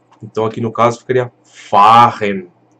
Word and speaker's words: fahren: Então aqui no caso ficaria fahren. Esse A ele fica um pouco mais longo.